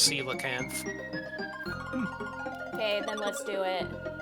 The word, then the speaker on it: coelacanth: Apparently, it is pronounced coelacanth.